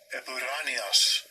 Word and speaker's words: epouranios: Let's see how it pronounces it. Strong's G 2032. Epiranios.